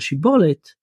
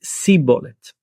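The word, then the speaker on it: שיבולת: And there's this plant called shibolet, and one tribe pronounces it shibolet, and one tribe pronounces it sibolet.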